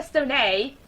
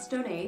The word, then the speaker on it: Stone: Narrows, lead actress Stoney, My name is Stone. That's Stone, not Stoney. The accent is silent.